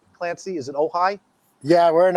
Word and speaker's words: Ojai: Am I pronouncing that correctly, Clancy? Is it Ojai? Yeah, we're in Ojai.